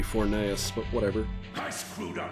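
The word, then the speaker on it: Forneus: die don't you uh they pronounced it fornius in this uh game I don't know I'm pretty sure it's actually supposed to be fornaeus but whatever I screwed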